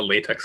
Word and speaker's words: LaTeX: So he's like, I ended up using like a latex compiler in this case, or LaTeX, depending on how you want to pronounce it there.